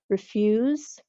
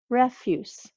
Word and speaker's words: refuse: refuse refuse refuse refuse maybe you can tell that in the first one refused the sound at the end is almost like as II refuse whereas the second word refuse refuse ends with an S sound so I'm going to